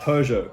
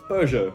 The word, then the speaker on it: Peugeot: next up we've got peugeot now because i'm australian i say peugeot but because peugeot is a french brand peugeot needs to be pronounced piu jo peugeot pujo something like that